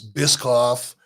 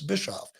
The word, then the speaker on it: Bischoff: I grew up with the name Bischoff. I was Bitchoff. I was. I was Biscoff. I don't like being any of that. Some people, when I was a kid in school, people say, I don't want to say it wrong. I'll just call him Bishop. I said, it's not Bishop, it's Bischoff.